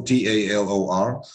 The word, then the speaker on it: Talor: all uh on Facebook Taylor offer t-a-l-o-r I mean people uh call me talor or Taylor is the same but we spell it t-a-l-o-r that's on Facebook uh